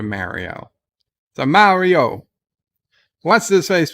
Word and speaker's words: Mario: Alex says, well, in Italy, it's kind of halfway between those two pronunciations. It's closer to Mario.